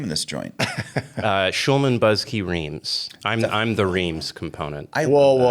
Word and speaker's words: Reams: Schulman Buzzkey Reams.